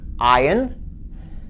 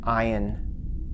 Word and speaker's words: Ayin: Again, this is a consonant, but not one that we're used to. It's a gurgle in the throat, if you will, a sound. In practice, it's rarely pronounced. It's a little stop in the throat between consonant sounds.